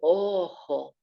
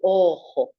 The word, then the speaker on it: ojo: Up on our face here, just the one, el ojo. Nice hiss sound on the back of your throat. El ojo.